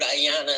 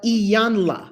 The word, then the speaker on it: Iyanla: when um when i i heard ayanna say um and i have to say this that's that's my spiritual mama iyanla she would she would tell you how to say her name iyanla say it again yeah